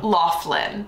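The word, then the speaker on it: Loughlin: how do you say her last name Laughlin Laughlin so yeah the whole College admissions scandal with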